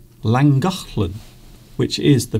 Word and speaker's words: Llangollen: Oh, that sign says Llangollen. Llangollen, which is the pronunciation of the place that you can see now on your screen.